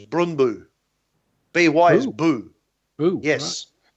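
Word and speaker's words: Brøndby: Brondby. Yeah, well, see, that's not how it is in Danish. It's Brundby.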